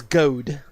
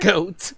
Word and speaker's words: goad: right first off doofus the word is goad not goat she's not a goat the word is goad